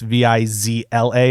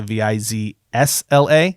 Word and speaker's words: Vizsla: this character I guess his last name is spelt without the S so it's viz LA as opposed to viz SLA mm-hmm so they're saying